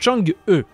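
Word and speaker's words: Chang'e: Il y a il y a plusieurs prononciations. Voilà, normalement, la vraie prononciation, c'est Chang-E. Normalement. Mais, bon, moi je dis Chang-I, il y en a qui disent Chang-A. Bref, si vous voulez, vous pouvez même le lire Change.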